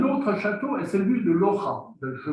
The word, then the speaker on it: Loja: Un autre château est celui de Loja. Je prononce bien, la région de Loja. Je prononce bien. Hein? Oui, Loja.